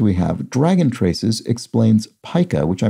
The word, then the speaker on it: pica: have dragon traces explains Pica which I mispronounced as Pica in yesterday's puzzle whether the measure in printing or the eating disorder is pronounced with a long I so pica and um